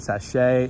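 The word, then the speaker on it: Saché: had been left behind sachet and yeah a apologies for the pronunciations but the accents are on the ease at the end so I believe that's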